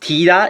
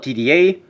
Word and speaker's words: TDA: Also, did you know it's actually pronounced TIDA instead of TDA?